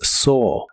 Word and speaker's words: saw: En el pasado es so. Las letras A y w de esta palabra realmente se pronuncian como una o normal y suena como so. So.